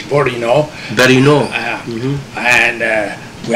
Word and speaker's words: Bourinot: a good job yeah the right pronunciation my name is borino very new and uh